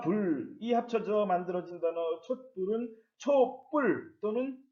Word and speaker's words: 촛불: 예, 초와 불이 합쳐져 만들어진 단어 촛불은 촛불 또는 촛불이라고 발음을 합니다.